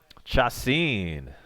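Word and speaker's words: Chacín: Chacin is how you pronounce our starting pitcher tonight from Milwaukee.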